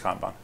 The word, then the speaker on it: kanban: as I can tell, the best way to pronounce it in Japanese, like the video you posted. I took Japanese for a year, and I'm pretty sure it's Kanban. So Kanban is like literally, it means signal card, okay?